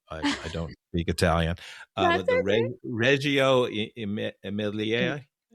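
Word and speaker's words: Reggio Emilia: book, but the the and I should pronounce it correctly because I'm Italian, but I I don't speak Italian Reio Emmelier. Reio Amelia.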